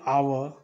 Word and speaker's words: hour: An hour, an honest man, an honorable man. So here I am given here an. But here you can see consonant over here. But H over here is silent.